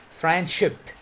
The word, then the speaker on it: friendship: Friendship. There is no de. Friendship.